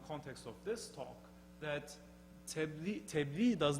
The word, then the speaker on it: tebliğ: And in Turkey, the closest counterpart, there is no exact counterpart, but the closest counterpart is tebliğ, another word from Arabic. The Quranic pronunciation is tabliğ.